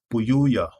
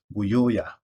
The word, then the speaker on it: Buyoya: I'll pronounce that as Buyuya or Buyoya.